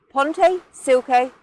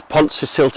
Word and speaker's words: Pontcysyllte: I pronounced it wrong Ponte silke Aqueduct Mr syllable it's Ponce silte Aqueduct okay but South play you